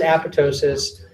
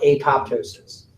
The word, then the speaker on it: apoptosis: split in how people pronounce this work i pronounce it Apatow sis mainly because that's the correct way to pronounce